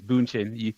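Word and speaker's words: Bündchen: No, no, it's Boonchin. You said it right.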